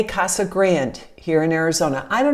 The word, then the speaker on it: Casa Grande: say casa grande no just grand the e is silent so if you want to talk like a local casa grande not grande grande is